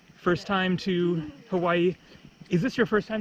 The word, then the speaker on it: Hawaii: the deal with the Hawaiian language is like when you see the words written out then you're supposed to pronounce all of the vowels and so for example